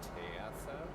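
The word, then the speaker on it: Teasa: That's how you pronounce it. It was like Tisa.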